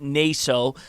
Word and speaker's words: Nasso: But first, we would like to have Bill comment on Grosse Ile senior Anthony Nasso. Now, it could be pronounced Naso. So either way, we want to put that out there.